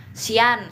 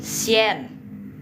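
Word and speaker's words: xian: Banyak nih teman-teman pemula yang bilang sian sian gitu. Bukan loh ya, bukan ini sien. Pokoknya kalau ada pingyin yang huruf vokalnya I a n itu tidak boleh bacanya yan bukan kayak yan kasela tapi yen ya.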